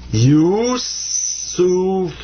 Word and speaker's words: Yusuf: So that's sa, pronounced like a S. And this is fa. This comes up to be Yusuf.